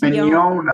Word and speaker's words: Mignogna: See, the middle part's the important part. It's Mignogna. Okay. Yeah, like you own something. Not like you're yawning.